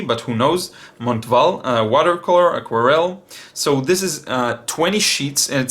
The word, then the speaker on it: Montval: series come on Val I guess you don't pronounce the T but who knows montval watercolor aquarelle so this